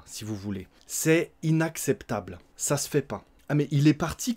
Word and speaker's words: ça se fait pas: Ça se fait pas et on va le prononcer ça se fait pas. Donc on mange le E, on a mangé le ne de la négation également.